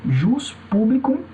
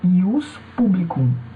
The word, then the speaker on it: ius publicum: Você tanto pode dizer jus publicum como ius publicum. Você pode dizer jus privatum como ius privatum. Não tem problema. Tá? As duas pronúncias são corretas aí no latim, ius publicum e ius privatum.